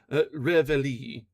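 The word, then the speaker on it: reveille: In the American army, it is ingeniously called Reveli. And to that pronunciation, our countrymen have pledged their lives.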